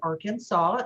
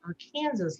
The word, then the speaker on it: Arkansas: There were 2 ways to pronounce this. There was Arkansas, S-A-W, or Arkansas, like Texarkansas, right?